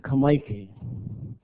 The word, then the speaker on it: Kamaiki: So we pronounce it Kamaiki.